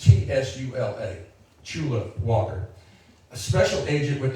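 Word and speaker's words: Tsula: Sure, it's Chula. Chula Walker. I knew I was going to mess that up. It's T-S-U-L-A, Chula Walker, a special agent with the National Park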